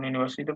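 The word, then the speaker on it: Universität: ইউনিভার্সিটি উনি Tait ইউনিভার্সিটি কি বলে জারন ভাষায় ইউনিভার্সিটে এই এর উপরে উমলাউট হবে যেহেতু উমলাউট নাই আমার কাছে এজন্য আমি ই দিছি তাহলে উচ্চারণ ঠিকই থাকবে ইউনিভার্সিটেড এখন আপনি কি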